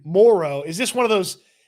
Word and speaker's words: Moreau: Patrick, the Dinger says, did y'all hear Moreau pronounce it More-O? He did say his name differently than most everybody else says it.